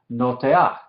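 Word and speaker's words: נֹטֵעַ: Pero en este caso la patah es furtiva, entonces se dice y se translitera antes de la ayin final. Entonces es notear, notear, ¿sí? Y la ayin es silenciosa.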